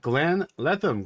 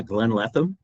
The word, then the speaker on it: Glenn Letham: I have Glenn Letham. Glenn, please introduce yourself. Tell us who you are, what you do. What's your problem? Hey, good morning, Renee. Good to be here. Yeah, Glenn Letham.